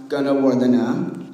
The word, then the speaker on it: Gunawardane: My last name is pronounced gonna war the na.